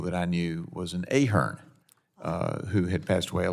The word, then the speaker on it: Ahern: I am Ahern.